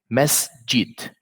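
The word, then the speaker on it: مسجد: Seen has sukoon. So with this stability, I will not say masa or masi. So I will say masjid.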